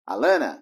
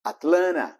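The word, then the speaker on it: Atlanta: dessa cidade por ela perde algumas vezes os dois Ts virando a Lana Mas também pode ser pronunciado at Lana próxima uma palavra que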